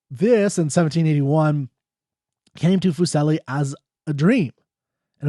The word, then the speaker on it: Fuseli: This is by Fuseli, I believe it's how you pronounce his name, Fuseli, in 1781, called The Night Mare.